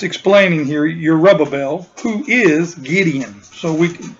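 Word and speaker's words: Jerubbaal: this morning forgive me your rubber Bell it would say Joe rubber Bell and in the English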